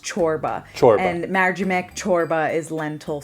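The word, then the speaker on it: çorba: corba chorba corba so it's a c with a little Accent on it and it's pronounced chorba and marim chorba is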